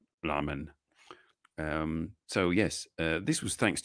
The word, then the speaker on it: ramen: There is no R in Japanese. There's a l sound. Ramen.